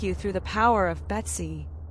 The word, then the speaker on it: B2C: I will now explain the process employed to empower agent B2C pronounced as Betsy is silicon world's agent powered by AI.